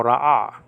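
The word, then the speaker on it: רָאָה: And then you have a Hey, which is silent. So Ra'ah.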